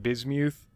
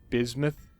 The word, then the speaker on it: bismuth: And yeah, I realize I've been pronouncing that wrong. Like this whole time I've been calling it bismuth, and it's actually bismuth.